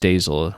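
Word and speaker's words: staysail: You're saying stay sail is pronounced staysel, like all nautical sail words.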